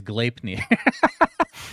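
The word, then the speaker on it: Gleipnir: it works i agree glaipner i had to look up how to pronounce that by the way requires i'm sure there's a norse mythology or something okay oh the american way is glapny requires a match i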